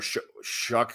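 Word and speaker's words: Shough: I think it's Shuck. They said show in college though.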